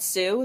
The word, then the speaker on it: Sioux: It's really called Sioux. That's the Sioux tribe. Yeah. Yeah, that's in plain sight. It was spelt with like way more letters than that. Yeah, but it's still pronounced Sioux.